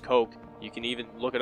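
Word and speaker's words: Koch: and coke and by the way it is pronounced coke you can even look it up on their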